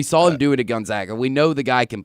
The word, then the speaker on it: Gonzaga: Gonzaga or Gonzaga?